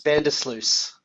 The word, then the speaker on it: Vandersluys: going hey everybody we've got can you pronounce it for us bender sluice vandals thank you that's easy and alex martin